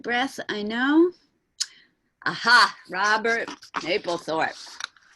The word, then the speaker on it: Mapplethorpe: Robert, I pronounce it Mapplethorpe. Some people say Mapplethorpe.